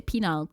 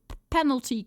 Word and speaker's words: penal: Oh, not Nile. Okay, not like the river.